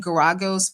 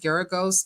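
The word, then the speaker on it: Geragos: Uh I keep saying Guragos, but someone said it's pronounced Geros, but y'all know who I'm talking about.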